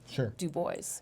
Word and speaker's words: Dubois: of immigration came through I think the name became anglicized Du Bois and it's an Indiana tradition to change the proximation of the French once Versailles should be